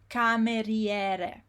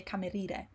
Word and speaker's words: cameriere: the I is when the I is after a consonant like an R and before a vowel like an E, it is pronounced. It's not, you should not miss it. So remember, the word is cameriere.